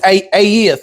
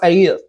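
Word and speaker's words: את: In the Hebrew, it's aeth. It's spelled ETH, I believe, but it's pronounced aeth.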